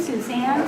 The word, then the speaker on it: Suzanne: Wiley, was born in France, and Diney was there at the time, the French spell it S-U-Z-A-N-N-E, and it's pronounced Suzanne.